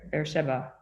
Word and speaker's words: Beersheba: She is based in Münster and in University of, I'm going to say it wrong, Beersheba.